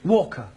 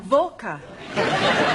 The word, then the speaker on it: Walker: driver that Mrs Walker Walker what the W is pronounced your employer's name is Walker yeah volca do you know how